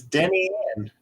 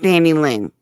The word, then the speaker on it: Denny Ann: Now, it's Denny Ann. Denny Ann, The way it's spelled. not Danny Lynn. No. Gotcha. No, Okay. there's no L in there.